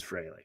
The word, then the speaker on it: Frehley: F-R-E-H to me is Fraley.